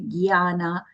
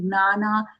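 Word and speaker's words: ज्ञान: Here, so some of us will say jnana, some will say gyana. Jya is the proper way as per Samskrita pronunciation rules. But if we are used to saying gnana, gyana, that is also fine. If you are going to take that, just stick to one way of saying that letter.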